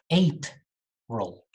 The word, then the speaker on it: April: the spelling is different this month of the year is usually pronounced incorrectly the correct form is ape role april okay ape not april but april next foreign very easy